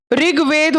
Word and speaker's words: ऋग्वेद: नहीं, तुम लोग बाबू वेदा है, वेदा होता ही नहीं है, हिंदी वर्ड है ये, संस्कृत का वर्ड है। ऋग्वेद होता है।